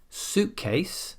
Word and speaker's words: suitcase: If the first word of a compound noun works like a noun, then we stress the first word and not the second. For example, suitcase, the first word is suit. As we know, suit is a noun, so we stress it.